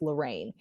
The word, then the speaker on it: Lorriane: and I was like, I've just got to say my name is pronounced Lorraine.